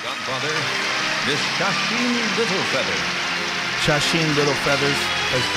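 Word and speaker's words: Sacheen Littlefeather: Mar and the godfa Miss Chen Little Feathers chasen little feathers said it right she's going to accept his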